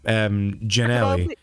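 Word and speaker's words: Gianelli: Like my name, Janelli. Technically, it's said with a J, because it's like it's pronounced with a J, but it's spelled with a G.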